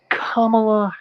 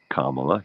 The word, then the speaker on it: Kamala: I give all 2 of my votes to Kamala Harris and Tim Walz. It was interesting. I noticed that Puerto Rico, they mispronounced Kamala.